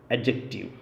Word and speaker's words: adjective: या तो आप कहें एडजेक्टिव या कहें एडजेक्टिव, यानी कि जो डी है वो इसमें साइलेंट होता है, ADJ। तो ये जो डी है ये साइलेंट है, इसलिए हम इसे कहते हैं एडजेक्टिव और एडजेक्टिव।